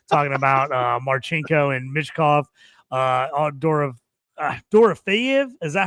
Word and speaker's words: Dorofeyev: Toast will be talking for an hour if we had him on here right now, talking about Marchenko and Mishkov, Dorofeyev.